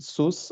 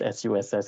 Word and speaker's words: SUSS: fun fact um the short form is not pronounced sus or SS it's just pronounced s USS in short okay just like how Singapore Institute